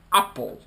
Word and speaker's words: Apple: Ah, forse facciamo la pronuncia con la E, perché voci di corridoio dicono che Apple non si dice Apple con la E, come teoricamente si dovrebbe dire. Si dice Apple con la A.